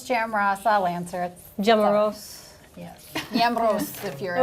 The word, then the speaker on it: Jamros: Am I pronouncing your last name correctly? Jamros, I'll answer it. Jamros.